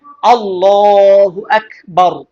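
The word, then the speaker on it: الله أكبر: এজন্য খেয়াল করে সুন্দরভাবে উচ্চারণ করবেন, আল্লাহু আকবার।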